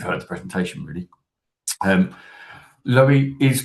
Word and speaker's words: Lowie: Um, Lowie is pronounced like Zoe because it stands for low impact on the environment.